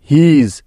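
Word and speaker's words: his: আবার দেখো, শব্দের শেষে ইএস থাকলে তার উচ্চারণটাও কিন্তু জ এর মতো হয়।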